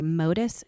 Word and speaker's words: Motus: And also we're thinking, or we are, I should say, going to get what's called a MODIS tower. And MODIS is spelled MOTUS.